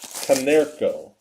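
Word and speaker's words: Konerko: Canerco.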